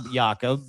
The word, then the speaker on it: Jacob: Jacob YaKob is how you say his name in Denmark.